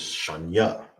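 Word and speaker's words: שנייה: Second is sha nya. That's how you say second.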